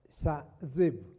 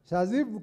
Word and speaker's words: Shazib: was talking to Sir, let me pronounce it properly. Let me try. Sir Zeb. Almost there. Shazib comes from Bangladesh, and I'm told he had a talk here.